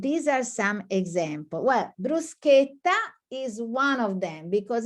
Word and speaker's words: bruschetta: find on the menu bruschetta they pronounce bruschetta now it's not bruschetta is this sound cake bruschetta okay so now you